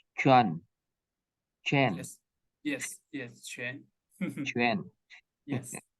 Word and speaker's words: Quan: Chuan. Yes, family name Chen. Chuan. Which one your family name? Q. Yes, Q-U-A-N. U-A-N. Yes. Pronoun as Chuan.